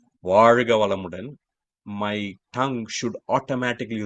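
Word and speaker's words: वर्ग: Varga. Varga. Not Valga, not Valga.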